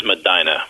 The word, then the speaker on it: Medina: It is Madina, by the way. Madina. That's like Yeah, that's like it's spelled Bahama here, but it's pronounced Bahama.